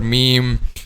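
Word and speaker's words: ميم: lips together but however letter meme is pronounced by using the Tulips and pressing both of them together and also the nose Okay um weekend okay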